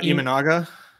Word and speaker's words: Imanaga: CE Logan Gilbert shoda how do you say Sha's last name uh imanaga imanaga oh so like just like phonetically I think so Gumby